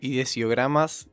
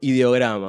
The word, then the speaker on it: ideogramas: Eh, esa palabra que dijiste ideiogramas son ideogramas.